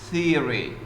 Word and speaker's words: theory: By the way, Kong, theories, theory, the pronunciation. Theories. Theory. The vowel is like the vowel in here.